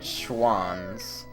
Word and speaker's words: Schwans: Like, that's the picture, that's their logo, but it's spelled a little different, and it's called, and you say it Schwans.